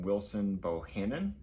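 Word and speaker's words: Wilson Bohannan: We also started by from Wilson Bohannon.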